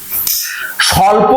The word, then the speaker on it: স্বল্প: স্বল্প শব্দের মধ্যে যে ব রয়েছে সেটি অবশ্যই অন্তস্থ ব। এখানে দেখো যে দন্তস্বয়ে বয়ে লয়ে পয়ে স্বল্প, এই যে বটি, এই বয়ের উচ্চারণ আমরা করি না।